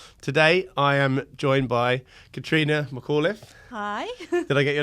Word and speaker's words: Catrina McAuliffe: property Facebook group today I am joined by Katrina McAuliffe hi did I get your name right that's